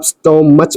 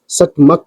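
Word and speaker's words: stomach: जिसे आप स्ट मच पढ़ते हो। वह उसकी रॉन्ग प्रोनाउंसिएशन होती है। बल्कि इसको सच मक पढ़ा जाता है और लास्ट में ये का साउंड निकालता है सी एच में ना कि च का साउंड।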